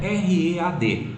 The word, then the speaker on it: read: O primeiro é read. Os 2 últimos se pronunciam igual a cor vermelha, red, read, red, red.